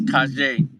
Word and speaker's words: Kajay: I pronounce You it keep wrong saying every time. But I remember, yeah, it's Kajay.